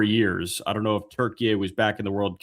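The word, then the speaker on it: Türkiye: Yeah, so instead of turkey and you spell it like the bird that is on your plate at Thanksgiving, you spell it Turkiye, Turkiye.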